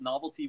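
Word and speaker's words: Knovelty: novelty comics and that's novelty with a K at the beginning of silent K on Twitter it's at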